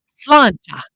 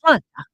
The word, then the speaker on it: sláinte: Do you know how to say the Irish cheers? You've seen it? Sláinte. That's how they say it. Sláinte.